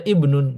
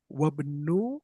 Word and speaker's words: ابن: Ismul mudarrisi Hamidun, masmul mudiri Dan kemudian ada ibnun. Ya, ini bacanya gimana? Ib, Ibnun. Kalau di awal. ibnu Tapi kalau di tengah. ibnu ibnu Ah, Khalid, ahsant. Ibnu Khalidin fil madrasati. Gimana baca yang ini? wabnu Ahsan.